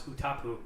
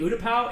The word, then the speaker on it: Utapau: Battlefront 2, and he would pronounce Utapau as Utapu. And I got so frustrated. I was like, "You mean Utapau?" in front of the whole class, and he was like, "No, it's Utapu."